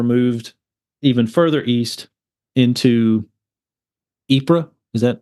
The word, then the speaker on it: Ypres: And this is when they were moved even further east into Ypres. Is that how you pronounce it? Yes. Yep. Ypres.